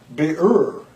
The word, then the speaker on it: birur: This work is, it's a hard word for me to pronounce. It's birur.